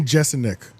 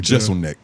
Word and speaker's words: Jeselnik: Anthony Jeselnik. I think I said it right. Jeselnik.